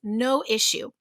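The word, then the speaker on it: noissue: brand it's our number one tool it's called no issue and it's one word and they spell it with a lowercase n n-o-i-s-s-u-e no issue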